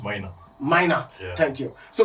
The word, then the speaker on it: Maina: His name is Mania. Oh, I didn't pronounce it well. It's pronounced Maina.